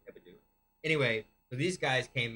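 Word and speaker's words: Hebdo: liked Who Um this magazine the magazine charl it's spelled Charlie Charlie heo all H EB d o hebo hebo anyway so these guys came in shot up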